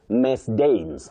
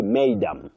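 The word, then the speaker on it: madam: Don't say Miss Dames. Miss Dames. No, you say maidam.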